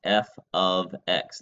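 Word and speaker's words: f(x): here it is pronounced F ofx there is no operation there no multiplication no nothing it's just a fancy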